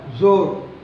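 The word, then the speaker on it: ज़ोर: அடுத்த வார்த்தை ஜோர். ஜா போட்டு கீழே புரிஞ்சு வச்சுக்கிறோம். இசட் உச்சரிப்பை நீங்கள் தர வேண்டும். ஜோர்.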